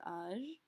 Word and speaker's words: âge: Note that we are not pronouncing âge as age. It's very tempting because it's spelled almost the same except for that accent over the top. But remember, we have to say everything in a French accent.